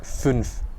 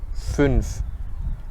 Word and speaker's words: fünf: So one example, for example, would be the German number 5, which is fünf, fünf, Ü, fünf. Okay.